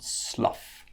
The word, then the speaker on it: slough: a trough ok so now let's look at the F pronunciate pronunciation so off just like stuff off and it's in words like enough rough tough and Slough so let's go from